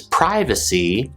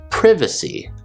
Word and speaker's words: privacy: this case flow pronounces privacy privacy in british english the i is pronounced with a short sound whereas in american english it's pronounced with a long i sound privacy and i included schedule